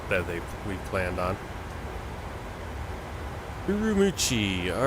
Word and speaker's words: Ürümqi: how it's written or it's kind of written like that but it's missing the M or it's missing the U after the M MO that's